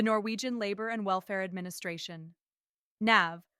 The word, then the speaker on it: NAV: NAV, pronounced NAV, is responsible for child benefits, parental leave, sickness pay, unemployment benefits, disability support, jobseker programs, integration assistance, and much more.